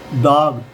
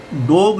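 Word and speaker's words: dog: अब इसी तरीके यह डाग डाग को हम डॉग नहीं बोलेंगे। डाग बोलेंगे। डाग ये चांद वाला बिंदु आ वाला व वाला आएगा।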